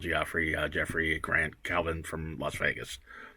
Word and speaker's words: Jeffrey: ] wrong with me most people mess up and make my first name three syllables they do e-r-y right i'm like people like is that not right jeffrey who says jeffrey he has it on